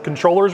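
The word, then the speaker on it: Comptroller: really positive about the controllers race. I'm glad Don said it right. Controller, it's actually controller, but nobody ever says it that way.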